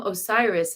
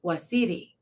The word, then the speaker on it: Osiris: was so powerful and the name osiris is actually pronounced wasidi so i think that